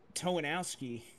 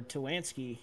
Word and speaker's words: Towanski: I think it was only Towanowski, or Towanski, yes, there we go, the right pronunciation, but he came down pit road, as well as Cosman, obviously, after that wreck.